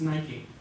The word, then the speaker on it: Nike: So Nike, because of course you have nice, let's change the K for a C, nice, and with overgeneralization, you would say Nike.